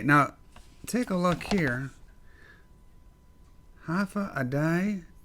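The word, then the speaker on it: Hafa Adai: take a look here half a day t there's a all right there's an asterisk here pronounce half a day half a day which means hello this is tomorrow the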